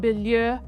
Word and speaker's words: Bilyeu: I couldn't wait to speak with Tom Bilyeu. How's that pronunciation for you, Tom?